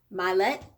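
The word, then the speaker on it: Mylett: i like what um ed i think his last name is pronounced my let says the power of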